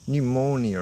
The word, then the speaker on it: pneumonia: Do we have many words with silent P? Pneumonia, I guess. Pneumonia, pneumatic.